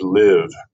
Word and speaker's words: live: start with live vivier live or this spelling is the same as a live with a long eye vowel they're spelled the same but that means and evil long i live not the same as liv i'll explain this in a moment so live with a short eye when i say short